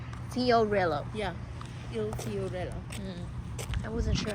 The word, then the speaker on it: Il Fiorello: Il Il Fiorello. Fiorello. Yeah, Il Fiorello.